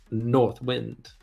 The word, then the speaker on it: North Wind: Wind by the way doesn't it sound much better if you pronounce that last word North Wind as one word with the accent slightly on the first syllable North Wind yeah that's kind of